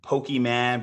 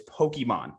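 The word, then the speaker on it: Pokémon: gene coming in where i purposely mispronounced names like pokeyman versus pokemon like dad come on it's pokemon pokeman yeah that they're all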